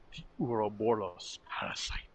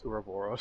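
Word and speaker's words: Ouroboros: couldn't pronounce uravoros yes the reason i pronounce it like that is because the first time i heard the word was from fullmetal alchemist so i pronounced it aroboros it's just like yeah that's a you however it's a greek word it's not necessarily pronounced the way it's spelled that's why i hate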